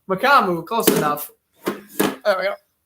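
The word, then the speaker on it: Mukuamu: I mispronounced his name earlier. Israel Mukamu. How do you say it? Israel Mukamu. Mukamu, close enough.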